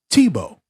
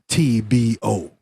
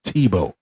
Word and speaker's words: Tebow: But it's not TBO. Even he said in the French language and French alphabet and how they spell things, they have 15,000 letters for nothing just to have a two-syllable name. And then when you looked at his name, it would be like Tybold because it had like 7, 8 letters in his name, but it's Tebow.